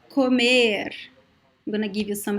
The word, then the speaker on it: comer: accent, but usually verbs, these verbs that have the letter O in the second to last syllable, they are usually closed, like comer.